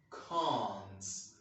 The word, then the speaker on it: can't: And the letter A here is pronounced A, but in this word, in British pronunciation, it's not pronounced as A. It's pronounced as R. Can, can't, can't.